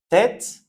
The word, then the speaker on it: tête: Donc c'est pareil, le e accent circonflexe, on prononce est. Tête, donc t'es, te, c'est la même chose.